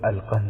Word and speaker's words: القنس: نام بھی لکھا ہے۔ نام القنس تھا، جس کا تلفظ القند ہے۔ وہ مصری مسلمان تھا،